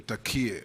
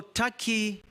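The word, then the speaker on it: Türkiye: It is not called Turkey, it's Turkey. It's only written Turkey, but it's pronounced Turkey.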